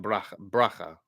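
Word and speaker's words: ברכה: Baraka. Not like Baraka's name. Baraka is definitely Baraka, but it's more like bracha.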